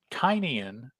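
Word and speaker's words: Tynion: my attention that that quite perhaps tinian is the way that he wants it pronounced and the best evidence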